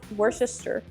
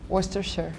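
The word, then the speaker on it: Worcestershire: little bit how do we say what sauce wor sister wor sister that's yeah I'm going to say that like you guys are saying it right though Worster sure wor sure Worster sure wor like wer sure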